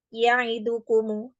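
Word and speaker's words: يعدكم: Jadi huruf dal yang seringkali terjadi kesalahan ketika pengucapannya dia lebih cepat. Ya'idukumu, ya'idukumu. Jadi ya'idukumu, ya'idukumu harusnya dia dengan durasi yang sama ya dari huruf-huruf yang mengiringinya.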